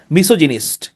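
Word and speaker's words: misogynist: এটা হচ্ছে মিস জিনিস এটা আবার গাইনিস উচ্চারণ হবে না এটা জিনিসটা হবে মিসও জিনিস তাহলে দেখেন এভাবে কিন্তু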